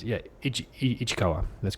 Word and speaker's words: Ishikawa: I don't want to mispronounce it. Yeah, Ichikawa.